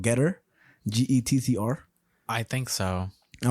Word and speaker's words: Gettr: But Getter is spelled Gettr.